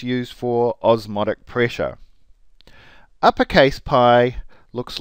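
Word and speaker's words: π: letter of course is the easiest letter in the Greek alphabet cuz it's easy as Pi here's Pi my lowercase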